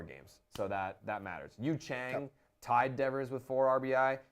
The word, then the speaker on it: Yu Chang: on Yu Chang please we should say his name like two chains says in his wraps you Chang like it has to be that so how do you